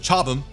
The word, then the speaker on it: Chobham: It goes on to say that with its Chobham, but I believe the British pronounce it Chobham, composite armor that the